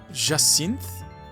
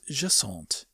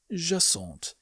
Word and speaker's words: Jacinthe: The ja is more or less correct, but I butchered the rest of it. Her name is Jaant. Jaant.